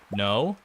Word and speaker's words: know: No. No with the K. It doesn't follow the same linguistic syntax as hickory, though. The K in no is silent.